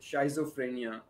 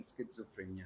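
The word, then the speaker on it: schizophrenia: तो साइकियाट्रिस्ट जी, ये जो बीमारी है स्किज़ोफ्रेनिया, जी जी स्किज़ोफ्रेनिया, इसको अमूमन उर्दू में बहुत सारे लोग लिखते हैं शाइज़ोफ्रेनिया या उस नाम से जानते हैं, मगर चूंकि उसका सही प्रोनाउंसिएशन स्किज़ोफ्रेनिया है.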